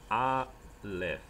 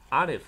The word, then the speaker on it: aleph: 但是 aleph 在这个古希伯来语里面，或者在希伯来语体系里面，aleph 是不发音的哈，要小心